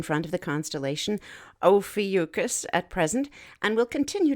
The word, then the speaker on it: Ophiuchus: that faint constellation of yukis the serpent Bearer interestingly enough this broadcaster recently heard it pronounced by someone who should know as ophiacus so we're just gonna put it in that tomato tomato category nevertheless tonight it appears